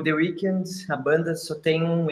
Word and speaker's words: The Weeknd: Como é que se pronuncia The Weeknd? Ok? The Weeknd.